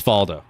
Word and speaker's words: Faldo: Pronounce Faldo, not Is it Faldo or Faldo? It's Faldo. I like Philly. It's FAL space DO. Obvious. Fal? It's like No. Falco from Star Fox, but with a D.